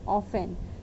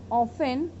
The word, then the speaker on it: often: It's not often, it's often. In this word the T word is, T letter is silent. Okay students, so it is often used to mean, MEAN,